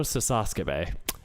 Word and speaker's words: Sasakabe: I need to get it so it's the last syllable and then like the third to last. Kojiro Sasakabe.